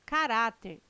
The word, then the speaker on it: caráter: as palavras paroxítonas ah e tem correto caráter intransferível e órgãos tem sua sílaba tônica na penúltima sílaba são paroxítonas observação poderia gerar dúvida a